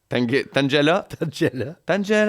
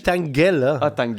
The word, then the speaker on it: Tangela: Tangela il dit tang mais moi en tant que francophone je dis tangel.